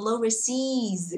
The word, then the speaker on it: overseas: Travel overseas, cái từ seas sẽ đọc to hơn hẳn và cao hơn tí vì nó đang nhận trọng âm.